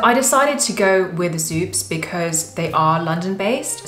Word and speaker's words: Xupes: store that I decided to go with was zoops which is spelled x u p e s and I